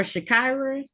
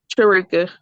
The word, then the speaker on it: Sharika: Now calling the matters of the people versus is it Sharika or Shakira? Sharika. You said it right.